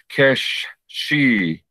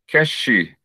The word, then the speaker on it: Keshi: Our general greetings at any time of the day is Keshi, Keshi, Keshi Bernard, Keshi.